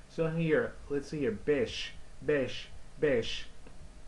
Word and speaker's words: beş: Alright, so here, let's see here, beş, beş, beş. This is number five, so we say beş. But maybe pronunciation can help you bash here.